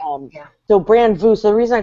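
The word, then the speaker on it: Brand Vous: it does so yeah so it's called brand vue and it's spelled the french way v-o-u-s um and it's really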